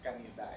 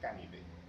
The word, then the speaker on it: Canidae: Los gatos son de la familia Felidae, no Felidae. No es Canidae, es Canidae. Canidae.